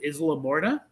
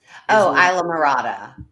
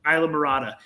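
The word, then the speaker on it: Islamorada: But is it Isla Morta? Isla Morada. Isla Morada.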